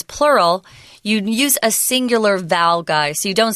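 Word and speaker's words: Waal: by the Ry the V it's pronounced with a V sound and not a w and the Muse Rivers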